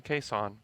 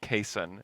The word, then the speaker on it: Cason: me Cason he said my mom named me Cason and so we're like okay so your name is Cason great for two weeks we call them caisson on everything every time that I say his name that's how I say it and then we get the pronunciation guide from the Thunder which Cason had input on and said please call me Cason and then they put